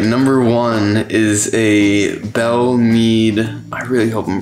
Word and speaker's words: Belle Meade: wait a second all right number one is a bell need i really hope i'm pronouncing that right it's gotta be belle mead yeah belle mead cast strength reserve okay that